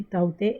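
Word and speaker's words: Tauktae: Okay, अब हम आते हैं नेक्स्ट इंटरेस्टिंग चीज़ पे कि जो साइक्लोन अभी ताउते आया था, ये ताउते, इसका प्रोनाउंसिएशन ताउते है।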